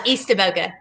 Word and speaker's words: Eastaboga: So it looks like Estaboga. Okay, close. Eastaboga. Yeah.